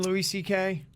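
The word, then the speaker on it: Louis C.K.: louis ck is how you say his name louis ck yes louis or louis yeah okay so he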